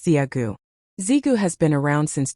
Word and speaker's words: Zigu: Zigu, pronounced Ziagu.